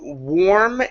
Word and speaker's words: warm: around let's go to warm and treats now the AR is a little confusing because you think it would be in our sound but it's not it's or it's an o are so it's warm tree